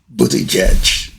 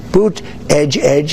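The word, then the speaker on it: Buttigieg: Post in the world he can't even pronounce properly the name of the Secretary of Transportation Pete booty jedge all it to go in and took two days and then boot Edge Edge as you say boot Edge Edge uh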